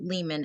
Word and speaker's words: Lealman: So Lehman, Lealman. That's how you spell it.